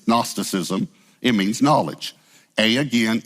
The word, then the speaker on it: Gnosticism: divide the word but the g actually goes with gnostic it comes from a greek word the g is silent it's gnosticism it means knowledge a